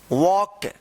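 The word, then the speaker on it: walk: Have four legs to वॉक। डब्ल्यू ए एल के वॉक। वॉक यहां पे जो है ना एल साइलेंट रहेगा।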